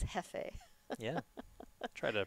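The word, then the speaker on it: jefe: Because I once got in trouble with Susie Teekert because I said Jeef. And it's Hefe.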